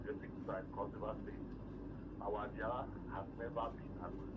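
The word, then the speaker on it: Adiaha: So our first daughter, so the barrister got the pronunciation wrong, Adiaga, not Adaya. Adiaga. Don't mind me, sir. Adiaga. Adiaga, A-D-I-A-H-A, Adiaga.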